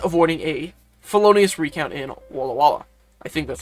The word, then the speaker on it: Walla Walla: and well as avoiding a felonious recount in Walla Walla. I think that's how it's pronounced. Walloa.